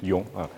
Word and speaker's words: Yong: So and you guys can call me Yong, the pronunciation Yong.